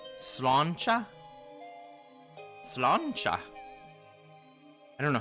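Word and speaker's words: sláinte: Cheers is slancha. Slancha?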